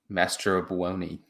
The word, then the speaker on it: Mastrobuoni: Sorry, how do you pronounce that? Mastrobuoni.